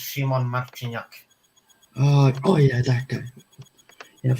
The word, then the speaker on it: Szymon Marciniak: His name is pronounced Szymon Marciniak.